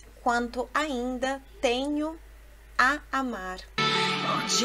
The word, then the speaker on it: oggi: Viu a pronúncia do GG? Ou melhor, do G. O G no italiano é pronunciado de forma explosiva, né?